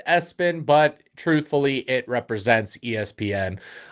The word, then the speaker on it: ESPN: His middle name is Espen, spelled ESPN, pronounced Espen, but truthfully, it represents ESPN.